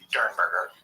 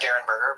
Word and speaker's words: Derenberger: I thought it was Derenberger, but I did hear, I think in the interview that we're going to have some excerpts from tonight, I heard it pronounced Dernberger. It's spelled like it's Derenberger. It is spelled Derenberger, but I think Dernberger.